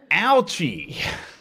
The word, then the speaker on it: Ouchi: Ouchie. Somebody left a note on our YouTube video for this episode, noting that Ouchie's name should actually be pronounced Ouchi. Ouchie.